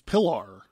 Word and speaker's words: Pilar: They straight up call her, they say her name is Pilar, which is like pillar.